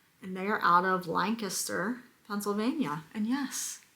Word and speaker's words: Lancaster: And they are out of Lancaster, Pennsylvania. And yes, it's pronounced Lancaster, not Lancaster. That's how we know you're not local. If you say Lancaster, we know. Lancaster is in California. Lancaster is in Pennsylvania.